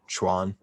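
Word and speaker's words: quan: or martial arts uh you would translate it as q-u-a-n pronounce it as like c-h-u-a-n schwann um so for any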